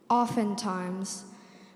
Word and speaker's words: oftentimes: hammock to read oftentimes oftentimes o f e n t i m e s oftentimes that's incorrect oftentimes has one of those silent letters it's o f t